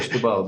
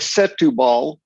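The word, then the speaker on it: Setúbal: is clearly there but locals call it stubal don't they i've heard you don't even say they all okay it looks like set looks like set to ball and that's pronounced thank you very much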